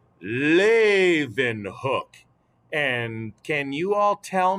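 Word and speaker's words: Leeuwenhoek: familiar to you it's pronounced lathe and hook and can you all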